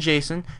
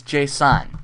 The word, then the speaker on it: JSON: it anyway um so it's not Jason with an A it's Jason and Jason is spelled like this JSON JSON I'm not going